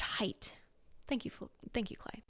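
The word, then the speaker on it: Haidt: and things like that so it's pronounced height thank you thank you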